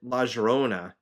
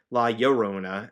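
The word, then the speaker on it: La Llorona: Uh but for the crying the re weeping woman um I I pronounced it laerona uh for the longest time and my class brought up laorona. I'm like you know that makes sense.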